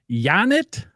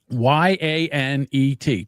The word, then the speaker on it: Yanet: Her name is Yanet Garcia. Janet Garcia. Janet. How do you spell that? Y an e t just like it sounds.